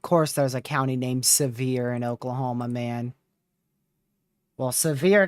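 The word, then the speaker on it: Sevier: So, not actually severe as in like severe storm, but it's pronounced generally the same.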